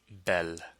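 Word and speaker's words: belle: handsome so handsome is Bo and beautiful is Bell handsome of course being the masculine version and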